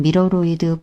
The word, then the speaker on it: 미러로이드: 미러로이드라고 읽는 경우도 있고 미로이드라고 읽는 경우도 있어서 직접 홈페이지에 들어가서 표현을 어떻게 하고 있나 확인해 보았습니다. 홈페이지에서 한글로 표현을 할 때는 미러로이드라고 되어 있어서 영상에서는 미러로이드로 표현을 하겠습니다.